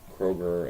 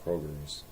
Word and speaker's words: Kroger: and brought up how people pronounce like Kroger and Meyer as Myers and Krogers and there's no pluralization in any in in that you